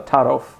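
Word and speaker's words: Taarof: your um you say that how do you pronounce tear off oh Taro Taro is the primary social cue um for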